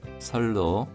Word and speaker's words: 線路: 로가 짧은 발음입니다.線路脇にも 선로 옆에도.